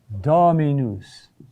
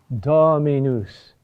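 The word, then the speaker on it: dominus: dactyls and they are Latin words whose accent is falls on the second to the third to last syllable the third to last syllable you'll see what I mean dami news dami news how do you remember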